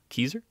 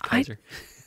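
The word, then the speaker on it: Keyzer: What'd you call him? Keezer? Is that right? Rhymes with geezer. It's Kaiser. I have Kaiser, like the.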